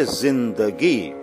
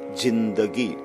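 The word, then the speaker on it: زندگی: We say zindagi. We say zindagi, not jindagi.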